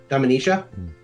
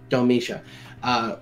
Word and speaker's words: Domitia: Dominicia? There's no N. Sorry. I gotta say that like once. How do you say it? Domitia.